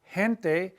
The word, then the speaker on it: gente: G followed by an E, like in the word gente, Gente, which means people, gente, that is soft as well.